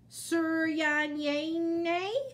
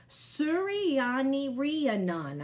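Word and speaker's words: Suryanarayanan: first day of school most people in america cannot pronounce my name on the first day at my new school my teacher mrs beam is brave enough to try sir yannay she says her eyebrows twitching as she attempts to sound it out suryani riya nan i said slowly she tries again but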